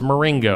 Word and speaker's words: Marengo: It's Marengo. Marengo. Like ring.